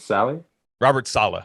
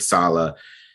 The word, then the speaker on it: Saleh: Robert Saleh.